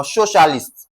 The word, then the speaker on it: socialist: Now, because it is ending with IST, it is ending with IST, just like its other ones. Okay? It is ending with IST. We are going to lay emphasis on what now? So so what now? Stress. Okay? So, we are going to pick the option that has what now? S O stress.